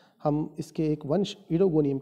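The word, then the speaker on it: Oedogonium: इस वंश का सही उच्चारण इडोगोनियम है, फिर भी अधिक प्रचलन के कारण उडोगोनियम भी इसको यूज़ किया जाता है।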